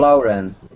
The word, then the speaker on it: Lauren: My name is Lauren, and it's Lauren. Lauren. Lauren. Pretend, okay, pretend, Mauricio, that you are looking at this. Lauren, L-O-R-E-N.